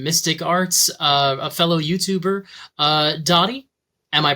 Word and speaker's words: Dadi: As long as the A is a long A, then I'm mostly happy about it. My name is Dadi. Dadi.